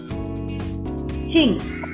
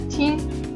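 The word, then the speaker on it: 聽: Ting. Yeah, Ting.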